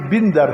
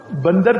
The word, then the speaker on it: بندر: بندر اس کا نام رکھا ہے. میں نے کہا استغفر اللہ. پہلی بات تو یہ کہ تلفظ تم غلط پڑھ رہے ہو. یہ بندر ہے، بندر نہیں ہے، زیر ہے.